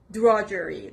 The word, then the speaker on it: drudgery: seventh word is drudgery drudgery the stress is on the first part drudgery it's a noun